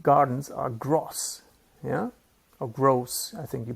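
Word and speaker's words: groß: you use that to remember that grows with a long o big Gardens are gross yeah or gross I think you pronounce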